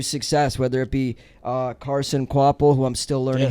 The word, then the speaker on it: Kvapil: You give guys an untraditional path to success, whether it be Carson Quapple, who I'm still learning how to pronounce his name.